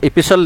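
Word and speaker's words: epistle: इपिस्टल आपके लिए नया, इपिसल नया वर्ड आया, टी साइलेंट रखना।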